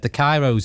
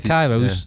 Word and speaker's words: Kairos: I've said Kairos a couple of times, and I've said Kairos.